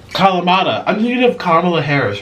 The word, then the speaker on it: Kalamata: Kamalata? Orlin, how do you say this? Kalama. Kalamata.